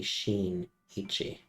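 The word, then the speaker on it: Shinichi: hear me S okay so this should be Sheen Ichi I've been pronouncing it wrong all time yeah it's me sinichi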